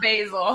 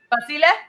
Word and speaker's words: Basil: It's actually Basil. You said it right. Basil. Yeah, Basile would be the Italian pronunciation, and it is Italian, but no, it's pronounced Basil.